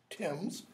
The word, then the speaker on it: Thames: upon the banks of Thames. It's got to rhyme with gems.